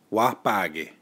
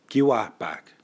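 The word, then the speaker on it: wâpahki: when there is daylight wah-pah ghee another way that I've heard this said is Qi back when there is daylight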